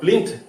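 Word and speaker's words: plinth: কিন্তু আমি আসলে ভাবি না প্রিন্ট নয় আসলে প্রিন্ট প্রিন্ট মানে হচ্ছে সফর সফর করা আরো প্লিন্ট পি এল আই এন টি এইচ এই শব্দটু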